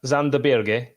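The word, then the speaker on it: Sander Berge: I'm gonna because your ears aren't working uh zanderberg is the correct way to pronounce his name it is it is you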